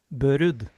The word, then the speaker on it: Børud: You want me to pronounce it? Yeah. Last name Bud.